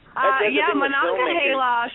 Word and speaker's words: Monongahela: And then Monongahela, is that how you pronounce that? Monongahela? Okay. I wasn't sure how to pronounce that. Monongahela should be coming out like probably next year.